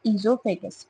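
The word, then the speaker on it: oesophagus: उसके बाद आता है आपका फूड पाइप, जिसका दूसरा नाम क्या है आपका, ईजोफेगस, ओ इसमें साइलेंट है।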